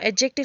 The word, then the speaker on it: adjective: Okay, now एडजेक्टिव, सबसे पहले एडजेक्टिव क्या होता है। एडजेक्टिव जो है इसका प्रोनाउंसिएशन क्या करते हैं, हमेशा डी जो है वो साइलेंस करते हैं। एडजेक्टिव, okay, it's नॉट एडजेक्टिव, इट्स एडजेक्टिव।